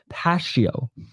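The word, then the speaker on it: Pacio: I give my prediction um his name is pronounced Pas not Pak pasio there you go then why isn't there a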